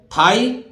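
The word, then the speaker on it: thigh: माने आप जानते हैं ऊंचा है इसी तरह थाई जी एच यहां भी तो सीधी सी बात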